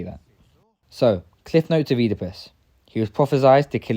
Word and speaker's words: Oedipus: While there are many Theban kings, I think it's pretty clear he's talking about Oedipus, or Oedipus is I think the actual pronunciation.